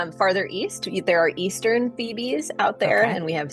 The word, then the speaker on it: Phoebe: How do you spell that? F-E-E-B-E-E? Phoebe. Yes, it's like the character from Friends, and they're lovely.